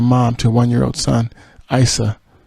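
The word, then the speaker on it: Eissa: to a 1-year-old son, Isa, or Issa, if I'm saying it right, E-I-S-S-A.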